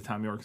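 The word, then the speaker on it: Thom Yorke: Okay, it is just Tom York. Tom York, All right.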